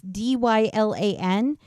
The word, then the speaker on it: Dylan: in my mid 20s uh that most people pronounce d y l an as Dylan I had a kid in my